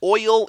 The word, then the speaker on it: oil: And since I know y'all will read this, oil is one syllable. It's a diphthong like way. It's not way.